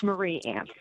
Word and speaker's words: Marie Ann: Did I pronounce that name correctly? Mary Ann. It's Marie Ann.